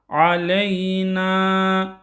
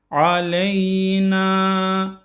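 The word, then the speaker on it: عَلَيْنَا: Aleyna. Buradaki n'yi çekiyoruz. Bir elif aleyna aleyna şeklinde ve ala ibadillahissihin.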